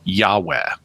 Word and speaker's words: Yahweh: And it's believed by scholars that those were most probably pronounced Yahweh early in Israelite history.